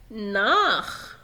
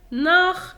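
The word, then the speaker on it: nach: إذا جاء حرفين السيها وقبلهم أ أو أو الحرفين المركبين أو أو بينطق خ، يعني مثلا أوخ، أيضا أوخ، ناخ. جرب هنا بوخ، أوخ يعني أيضا، ناخ يعني إلى، بوخ يعني كتاب.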